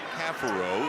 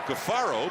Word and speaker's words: Caffaro: And yes, it is Caffaro. For years it's been Gaffaro, but we have been told that this year, people who have watched Virginia games know this, that the pronunciation that he would prefer is Caffaro.